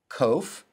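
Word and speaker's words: ק: the ts in boots kof sounds like the k in king the kof and the cough sound alike sounds like the r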